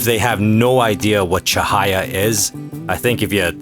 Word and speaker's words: Cahaya: I've been calling it the Well, I've been calling it the Caha update, but it's actually pronounced Chahaya, but I suppose it really doesn't matter because it's not called that.